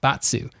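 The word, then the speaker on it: バツ: upset back to xbox x is pronounced botsu so if a japanese person was to do a little literal reading of xbox it would be batsu box which i think is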